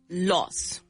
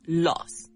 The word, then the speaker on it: laws: So, law is laws. Pronunciation is laws. It's spelled with an A, but it sounds like an O kind of laws.